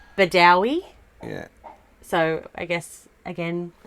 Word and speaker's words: Bedourie: We were heading through to Bedourie. We've heard it pronounced both and told multiple times that it's... Bedourie.